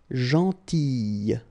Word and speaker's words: gentille: Alright, same thing here, gentille, okay, so remember to pronounce this I, gentille, okay, and in that case here, remember plus I, you get the sound eh.